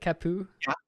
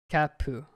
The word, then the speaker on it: kyappu: So you say it cap. How do you say it? Capu. Poo. Capu. Gotcha. Yeah. Yeah. Like a kya.